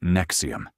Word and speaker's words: NXIVM: This is the story of NXIVM, pronounced Nexium, founded by a man named Keith Raniera in the late 1990s.